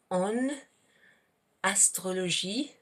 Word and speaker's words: en astrologie: So normally that en would be pronounced like that, en. Le Gémeaux en, but here we have a word that begins with a vowel at the beginning, so you would kind of like pronounce that N because it precedes an A, so like this. Le Gémeaux en astrologie, un signe, un is one.